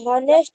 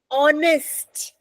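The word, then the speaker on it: honest: शी शी इज अ हनेस्ट women. आपने पता है गलती क्यों की? क्योंकि आपने एच को प्रोनाउंस किया। इस शब्द में एच साइलेंट है। एच की आवाज नहीं आती। ऑनेस्ट इसकी प्रोनाउंसिएशन ऑनेस्ट है।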